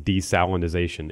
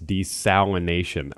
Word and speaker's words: desalination: I have to correct you because you made the same mistake that I made in saying desalinization. It's desalination. We keep throwing, it's a hard word. I keep throwing that extra syllable or two in there, desalinization, but it's not.